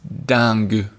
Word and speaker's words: dingue: Another funny one that means crazy that I like a lot is dingue.